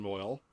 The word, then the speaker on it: Moyle: right plus looking young man played by alan moyle uh just there picking up his mail what's his what's his name ellen moyle is the name of the actor yeah moyle